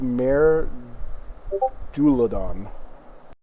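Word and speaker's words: Maer Dualdon: Uh, the lake is called Mar Duladon. Wow. You want to spell that for me?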